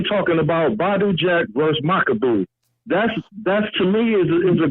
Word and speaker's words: Makabu: Why is nobody talking about Badu Jack versus Makabu? That's to me is a good fight. I know it don't really got the star appeal. Remember when Canelo wanted to fight Makabu, jumping up divisions again like he always does.